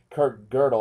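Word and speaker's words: Kurt Gödel: no proof or disproof it's actually impossible because Kirk girdle I think is how you pronounce his name um Kingwood is you know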